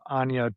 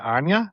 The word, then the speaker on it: Anya: I have no idea how old uh Ana Taylor Joy, is that how you say it? Anya. Is it Anya? Yeah. Anya Taylor nailed it.